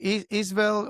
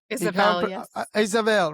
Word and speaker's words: Isabelle: But when we put faces to the stories, we can finally feel I say your name right, Isel or Isabelle, right?